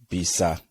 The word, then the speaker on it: B.ISA: So yeah, she is the founder, guys, of B.ISA, right? That's how it's pronounced.